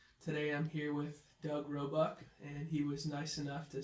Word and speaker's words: Roebuck: So, Doug, if you wouldn’t mind starting us off by pronouncing your name for the viewers. Roebuck: Doug Roebuck.